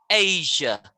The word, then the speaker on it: Asia: a sure asia easier not asia not three syllables two syllables asia nope yeah no just ja can you say yeah yeah asia isa that's it asia just one more time a sure asia yeah yes much better